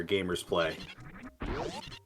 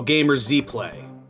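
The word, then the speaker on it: GamerZPlay: the lingo myself there, Gamers Play. So now in the wave gate, we've got some more missiles. Oh, Gamer Z Play. My apologies, I put the emphasis on the wrong syllable.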